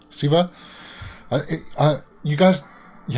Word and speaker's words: Shiva: comment section below that it's not pronounced s h with x sound like the way we speak it's like a c sound like siva now that's i think